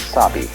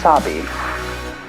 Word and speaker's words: sabi: The first is sabi, and that goes along with something that rhymes with it, wabi.